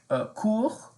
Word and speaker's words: court: And then you could say court. Court. Now this is where French is a little different than English. Just know that we don't pronounce all consonants at the end.